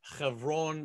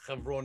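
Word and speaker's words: חברון: That's where Abraham put his 10 pegs down originally, in Hebron or Hebron and or Hebron, depending how you want to pronounce it. It's Hebron in Hebrew.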